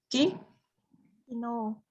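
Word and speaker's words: 機能: Kino. Kino. Kino, bukan kino kemarin, artinya apa kino ini?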